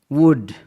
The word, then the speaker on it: would: वुड, WOULD, वुड, LD का combination है जिसमें एल साइलेंट है.